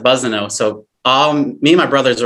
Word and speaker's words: Bussineau: And the reason I put, that was my nickname growing up, because people, instead of saying Bussineau, people say Bussineau for some reason. It's an S, but people pronounce it Bussineau.